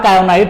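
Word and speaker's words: kaolinite: जो clay minerals होते हैं वो हमारा कायोनाइट होता है, इसमें एल साइलेंट होता है, इसको हम लोग कायोनाइट बोलते हैं।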